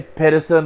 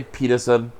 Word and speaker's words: Pedersen: You say Pedersen, I say Peterson.